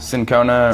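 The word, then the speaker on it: cinchona: how do you say this again change Shona sin Kona and Shona okay and it comes it's the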